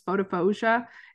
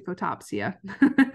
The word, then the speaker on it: photopsia: like the sparking and I've always called pronounced this photophosia until my graduate student thank you so much krishana for pointing this out for me that um it's actually photopsia so yes but photophosia